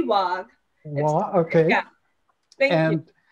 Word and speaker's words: Wagh: And Nikita is Nikita Wagh, I believe is how it's pronounced. Please correct me. It's actually Wagh.